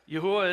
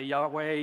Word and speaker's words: Yahuwah: text you see there yahuwah is the pronunciation of the tetragrammaton that I've chosen I don't get into fights with people about this some say Yahweh the King James says Jehovah Jehovah look uh we're talking about four consonants and we're doing the best we can the pronunciation I've landed on is yahuwah so if you hear